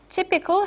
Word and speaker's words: typical: between sanity and sane same for typical typical has the has a short vowel okay it comes from type which has a long vowel same for obscenity which